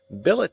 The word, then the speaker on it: billet: mind seen momany mankind Billet does not rhyme with ballet bouquet wallet Mallet Chalet